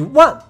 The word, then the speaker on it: 卍: 的汉字，与万同音。